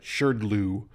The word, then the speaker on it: SHRDLU: of language called shirdlu yes that's how you pronounce it sure glue um and and how it's built so we're